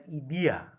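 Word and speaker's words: ἰδέα: mind but plato's idea which is pronunciated as idiya in greek philosophy that idea exists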